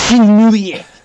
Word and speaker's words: Shenmue: Is it Shenmue or Mui? Shenmue. Shenmue 3. That's on my bad. I can't pronounce it. It's Shenmue.